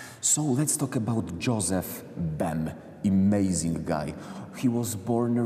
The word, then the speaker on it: Bem: Bem. Bem.